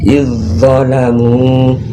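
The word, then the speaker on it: إذ ظلموا: Cara bacanya antara i langsung masuk ke huruf zatnya ya. Izzalamu walau annahum izzalamu ya, bukan iz ya, bukan huruf iznya yang nampak, tapi langsung i dengan zat. Izzalamu ya.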